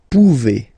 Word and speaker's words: pouvez: A Z like that. Okay? Remember you pronounce it E. Okay? Vous pouvez. Vous pouvez.